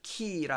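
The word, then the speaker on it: Quay: Delivered X Key라 해가지고, 이 키는 열쇠의 키하고 발음이 같습니다. 키는 부두라는 뜻이죠.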